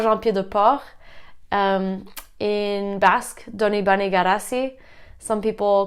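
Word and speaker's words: Donibane Garazi: town called San Juan Peter Paul in Basque donee bunny got a sea some people call it st.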